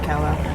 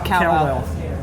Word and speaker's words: Kawau: Yeah, we'll just leave one of them Sands Pit which is where you catch the ferry from to head to Kawau.